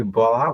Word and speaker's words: Bola: It's you can actually call me Bola, but it's pronounced.